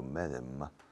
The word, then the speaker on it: Medem: Julio Medem. No, Julio Medem. Se escribe Medem, pero nadie en este país dice Julio Medem.